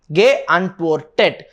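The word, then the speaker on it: geantwortet: So if you are going to add another t, then it is not going to be pronounced properly, right? But if you are going to add another e before the t, then it will be complete. See, ge antwortet. So how the pronunciation will be? Ge antwortet. That sounds complete, right?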